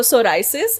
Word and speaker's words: psoriasis: It's a wordplay with so psoriasis. It's Okay. a community for people with psoriasis to help them, you know. So that P is silent basically.